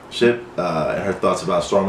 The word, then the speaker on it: Shipp: Shipp.